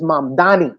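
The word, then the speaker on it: Mamdani: See, he made he made him pronounce his name correctly. Correctly. His name is M Danny.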